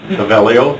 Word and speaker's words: Paveglio: Pavelio, here. Pavelio. The G is So the G is silent.